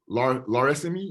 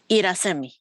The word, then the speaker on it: Irasemi: You know what, is it Laresemi? Is that how you pronounce that? I just want to make sure I got that right. Irasemi. Irasemi. You know, I don't know why I think that she's an L. I'm sorry.